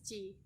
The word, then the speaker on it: chi: bisa melihat kan itu seperti tanda x Tapi itu bukan tanda x melainkan itu bacanya Chi Chi square jadi tes chi-square